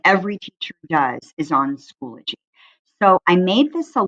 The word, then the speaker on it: Schoology: be your friends so schoology is pronounced the way you see there in the key it's not schoology like so many people originally think but i wanted to